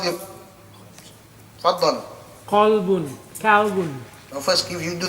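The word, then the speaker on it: قلب: There we have next, kalbun. With a kaf. A kalbun is a dog. Right? Qalbun, a heart. Kalbun, a dog.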